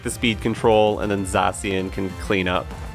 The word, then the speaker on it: Zacian: Because we take the speed control, and then Zacian can clean up. Za-cyan.